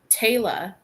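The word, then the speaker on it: Tayla: Taylor. Taylor? T-A-Y-L-A. Really? What about Taylor Swift? No, that's Taylor. T-A-Y-L-A. Taylor. Well, when you say it like that, it sounds the same.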